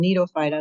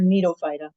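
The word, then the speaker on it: Gnetophyta: So Ginkgophyta, and then Nidophyta, the G is silent on that last name there, Nidophyta.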